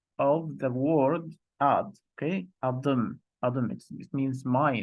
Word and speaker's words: Adım: So it's Adım Ahmet. Try to pronounce after me, okay?